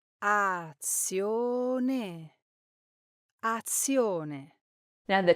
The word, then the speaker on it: azione: Now, sometimes Italians accidentally double the Z when it's followed by I and another vowel. That's why you might hear a word like action or azione pronounced as azione instead of the correct azione, giving the Z a heavier sound than it should have.